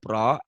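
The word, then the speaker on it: راء: Hukum membaca huruf roh ada 3 macam. Yang pertama, tafkhim. Apa kau bilang? Ulang. Tafkhim. Tafkhim. Huruf ro ini kan tulisannya ra ya, dibacanya o ya, ro jangan ra ya.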